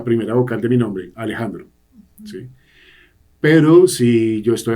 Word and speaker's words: Alejandro: chistes con mis hermanos la pronunciación puede ser más parecido a una e entonces puede ser en lugar de eh Alejandro podría fíjense la la segunda vocal de Alejandro Alejandro puede ser más una que en inglés y en